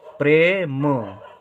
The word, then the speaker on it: प्रेम: जैसे यहाँ पे पा के साथ ए की मात्रा का उच्चारण नहीं हो रहा है, रा के साथ हो रहा है, प्रे प्रे। ठीक है, प्रेम प्रेम।